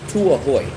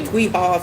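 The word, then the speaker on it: Tuy Hòa: I think it's called Tuahoy. Tuihua. Some people say Tuiha, some people say Tuahoy, but it's spelled T-U-Y. T-U-Y. The second word is spelled H-O-A.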